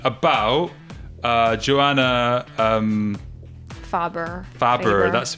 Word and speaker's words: Färber: just a question about uh joanna um faber faber that's the pronunciation thank you uh the the unfortunate incident